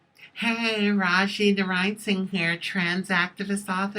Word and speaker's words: Rajee: Hey rachid arising hair trans activist author and actress some people pronounce it rachet ok raah she rachet honey as long as